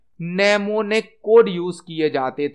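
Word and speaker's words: mnemonic: है assembly language में नेमो निक code use किए जाते थे नेमो कोड एम साइलेंट होता है नेमोन कोड यूज होते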